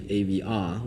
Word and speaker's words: AVA: But naming the website like that was difficult because, first of all, we can't really explain that it's supposed to be AVR when it's spelled AVA.